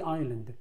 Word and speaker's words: island: first 네 번째 year 해에 어디에서 on 뭐뭐 위에서 어디에 the island 더를 모음 앞에서는 D라고 있습니다. 아일랜드라고 이음을 시작하면 모음이거든요. 그래서 The Island라고 읽으시면 됩니다. S가 소리가 안 납니다.